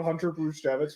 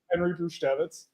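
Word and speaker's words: Henry Brzustewicz: You guys are getting Do we care about Hunter Bruce Davitz right now? Or No, because you got his name wrong. Clearly Henry Bruchitz.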